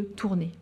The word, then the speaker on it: Tournai: de l'épisode des tournois tournoi à l'époque était homonyme du nom de la ville de tournai et de se prononcer de la même façon ainsi en plaçant l'invention